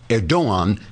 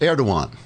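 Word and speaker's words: Erdoğan: to Turkey's president, Recep Erdogan, pronounced Erdogan because the G is silent, as in Angster.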